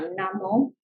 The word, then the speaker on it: namo: 那为什么我们常常会讲 Namo？